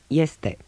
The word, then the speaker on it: este: At the beginning of a word, it is pronounced like ye, in yes. Este.